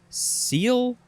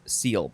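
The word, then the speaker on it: -cele: It means cavity, chamber, ventricle, and I guess you would pronounce it seal, because the examples are blastocele and enterocele.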